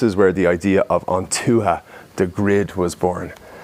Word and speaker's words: Ontuha: And this is where the idea of Ontuha, the grid, was born. Now basically Ontuha, which is spelled Ontuha, O-N-T-H-O-O-H-A, is basically an old Irish word for the tribes.